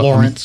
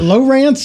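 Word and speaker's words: Lowrance: Is it Lawrence or Lawrence? I always pronounce it Lawrence. Where's he from? He's from North Carolina. Yeah. Yeah. No, it's just Lawrence. Lawrence. Yeah, it's LOW.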